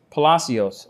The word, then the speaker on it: Palos: hide them point taken Miss uh Palos uh am I pronouncing your last name correctly ma'am yes you are okay you've heard what